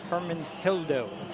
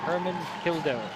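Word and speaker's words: Hermenegildo: Ashley Hermanhildo. It's spelled with a G, but you don't pronounce it as an H sound. Hermanhildo.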